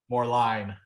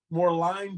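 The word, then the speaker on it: Moerlein: Ryan Kai's compare to now I may get the the name wrong so you have to correct me on this more lean more line more line okay more line Brewery or uh the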